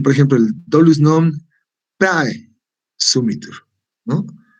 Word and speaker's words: praesumitur: Aquí, por ejemplo, el dolus non praesumitur, ¿no? O sea, prae es un solo sonido. ¿Por qué? Porque es un diptongo.